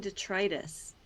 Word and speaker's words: detritus: The sinking detritus. That's how you say that word. All of us had to learn how to pronounce that word, detritus.